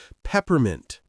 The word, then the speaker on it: peppermint: Peppermint. Pep mint. Quick second syllable.